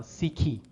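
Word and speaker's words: ψυχή: yet another greek term which is which is pronounced something like uh sikhi right sikhi so so that's what this would be pronounced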